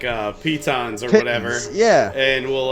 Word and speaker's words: pitons: of the dudes on glass cannon call them pittance uh probably there we go i've always known pitons as well i got this how to pronounce pittance what pitons it's pitons okay it is pitons yeah that's weird anyway